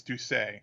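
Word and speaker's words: D'Ussé: conac which is how do you think you pronounce it that word Bill the the the name of the the conac it it's duay duay the DU drop a duay drop a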